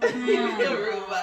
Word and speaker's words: Huruma: Huruma.